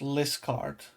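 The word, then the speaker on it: Liskeard: Cornish Town is pronounced Liscard.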